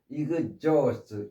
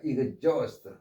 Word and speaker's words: exhaust: 그래서 여기에서는 이그즈 H가 묵음이면서 요게 O 이렇게 발음이 돼서 exhaust 이렇게 발음됩니다. exhaust 다 써버리다, 지치게 하다.